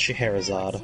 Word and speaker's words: Scheherazade: Am I even pronouncing Scheherazade right? No, but I'm not gonna fault you as much for that. It's Scheherazade.